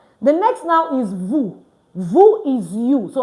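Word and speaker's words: vous: to use vu and I will say vuve vu meaning what you can you see that it's pronounced vu vu you can all right so let's start from the topo V.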